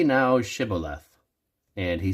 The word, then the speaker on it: Shibboleth: Then they said unto him, Say now Shibboleth. And he said, Sibboleth, for he could not frame to pronounce it right.